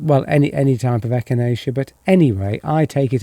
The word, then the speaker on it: echinacea: Duncan yes echinacea that's pronounced echinacea I don't know why won't it focus on there wait there...